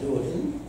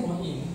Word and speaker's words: Hua Hin: Hoi Hin? Hoi Hin, yeah. Wait, there's no other people. So, how do you say Hoi Hin? How do you say in Thai Hoi Hin? Say Hua Hin.